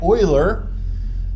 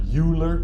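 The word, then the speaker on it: Euler: It's not uler. Don't say Uler. Ule sound foolish. If you say Uler is a German name, so it's pronounced Oiler.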